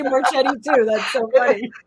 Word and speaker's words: Marchetti: I always say Marchetti too. That's so funny. It's Marchetti. Oh, wow. I like it, Marchetti.